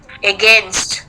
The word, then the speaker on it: against: I'm saying it's Against, not again. Egg nest. It's pronounced now as egg nest. Against.